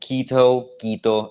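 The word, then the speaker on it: Quito: jazer reported now uh for anyone who doesn't like me pronouncing Kito in my English accent kitoo it's the same thing you get me um but I get some people don't like that so I pronounced it both ways uh so basically what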